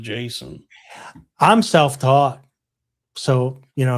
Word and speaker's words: JSON: .json Yeah, I think it's pronounced Jason.